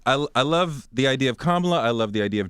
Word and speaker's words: Kamala: I think Kamala Harris. Kamala, you said it right the first time.